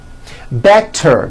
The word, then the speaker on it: better: So if a letter T falls between 2 vowel sounds, which are voiced, so if it falls in the middle of vowels, then the T is pronounced as a D and the whole word is voiced.